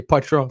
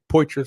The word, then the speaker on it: Petro: my my last name i say petro some people say poetry some people say patrol it's the true french person in me so